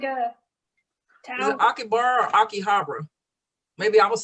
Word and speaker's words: Akihabara: i want to miss have you heard of akibara it's like a town or akihabara maybe i was saying it wrong yes sure